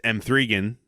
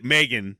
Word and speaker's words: M3GAN: hack joke about by pronouncing it as M3 again uh Megan right we're gonna we're gonna